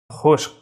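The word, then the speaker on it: खुश्क: খুশক, খুশক, খর নিচে ফুটা থাকাতে এর উচ্চারণটা খার মতো হবে, আরবি খা গলা থেকে আসবে।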